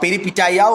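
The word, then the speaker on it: peripeteia: ক্রাইসিসে হয়ে গেল পেরিপিটিয়া, পেরিপিটিয়া বা পেরিপিটাইয়াও অনেক উচ্চারণ করে, অ্যানাগনরেসিস, ক্যাটাস্ট্রফি।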